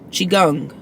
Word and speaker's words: Qigong: gong you know what Google will help us pronounce it gum Qigong um Qigong healing at any age with energy breath movement